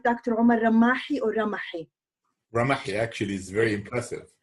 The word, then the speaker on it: Ramahi: Omar Ramahi or Ramahi?